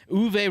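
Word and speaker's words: Uwe: to pronounce that okay is it the w is a more like a v is it like a v yeah german okay uv rosenberg selected which tuscany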